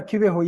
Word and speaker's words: Kibeho: Yeah, Kibeho, yeah.